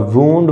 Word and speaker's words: wound: वूंड का मतलब होता है जख्म, और वूंड, वुंडेड या वुंडिंग, वूंड मतलब जख्म देना, जख्म होना, जख्म से रिलेटेड है। इसको वाउंड नहीं वूंड बोलते हैं।